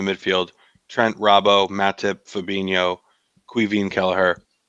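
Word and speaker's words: Caoimhín: But they were saying Quivin, and I was like, what are they? Is this a joke or is this really how you say it? But I'm glad you confirmed it.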